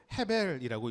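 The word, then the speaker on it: הבל: 히브리어 원어로요.이 아벨이라는 것은 헤벨이라고 읽습니다.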